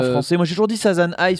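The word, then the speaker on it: 3×3 Eyes: moi j'ai toujours dit Sasan i parce que c'est comme ça qu'on dit en japonais je t'av j'ai TR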